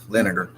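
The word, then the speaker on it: Leininger: this last name right it's l e i n i in ger lineage okay so crazy thing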